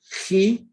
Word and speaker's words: Chi: But this is where you have to think not X, but Chi, the first letter in the name or the title for Jesus Christ. Christos is a Chi. Pronounced like the Scottish word loch, CH.